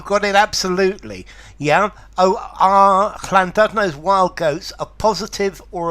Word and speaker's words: Llandudno: Notice the pronunciation of this double L at the beginning is a weird sound.